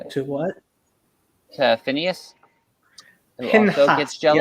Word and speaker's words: Pinchas: To Phineas, who Pinchas, also gets jealous. yes. Pinhas, Yes.